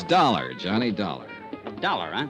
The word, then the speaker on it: Dollar: It's dollar. Johnny dollar. Dollar, huh? It rhymes with color.